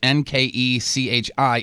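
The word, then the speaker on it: Nkechi: got it the first name however it's actually pronounced n ke CI is Nigerian for gift of God Dio means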